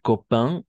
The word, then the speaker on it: copain: Se escriben A-I-N, ¿no? Pero gracias a causa de esa E al final, tiene un efecto retroactivo, si vale el término, y va a hacer que pronunciemos como in, ¿no?